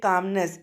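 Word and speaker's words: calmness: काम से कामनेस, इसमें एल साइलेंट रहता है।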